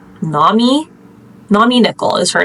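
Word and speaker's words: Nomi: the book is named okay it's either n me or Nam me it's spelled n o Mi I I think it's Nami Nami nickel is her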